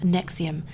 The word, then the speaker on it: NXIVM: and the founder of nxivm pronounced Nexium a controversial self-help organization